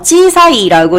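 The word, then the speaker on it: 小さい: 자, 작다라고 하는 단어 찌사이라고 읽는데요.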